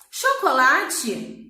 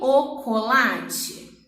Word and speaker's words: chocolate: Chocolate, na gramática, se escreve como? C-H-O. Só que esse CH, eu falo que o colate? Não, né? Eu falo chocolate.